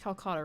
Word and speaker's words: Calcota: when people think of it's pronounced calcutta right okay today when